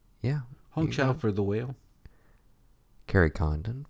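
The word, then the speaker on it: Hong Chau: Angela Bassin black p um how do we pronounce this name honow yeah honow for the whale Carrie Condon for the Banshees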